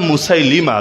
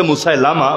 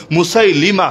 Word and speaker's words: মুসাইলিমা: একজনের নাম মুসাইলিমা। লোকে বলে মুসাইলামা। ভুল উচ্চারণ। মুসাইলিমা।